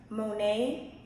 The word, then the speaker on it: Monet: My Instagram username is by my first name Monet It's spelled M-O-N-E-T, so by Monet.